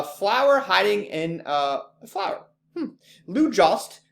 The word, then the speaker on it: Jost: Lou Jost rhymes with toast.